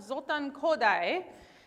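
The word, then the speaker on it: Zoltán Kodály: first who is this guy okay who's that zoltan kodai yep is how you say it um my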